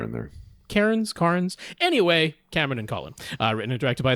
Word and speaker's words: Cairns: Oh, wait, there is an R in there, yeah. There is an R in there. Carnes.